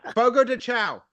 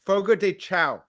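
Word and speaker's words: Fogo de Chão: Dan stone is here Sean did I say it right boogo dechow it's Sean it's an Irish joint it's a Brazilian place man yeah it's called yeah it's Fogo de cha okay can we let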